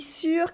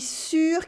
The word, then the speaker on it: sûr: Je suis sûr qu'il est sourd. Je suis sûr qu'il est sourd. I'm sure he's deaf. Here you have the difference between sûr and sourd.